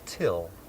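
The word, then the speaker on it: Thgil: so what's your name my name is till it's spelled t h g i l but it's pronounced till till this is the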